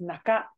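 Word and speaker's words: 中: what this kanji is in this context it is pronounced as naka um senaka means back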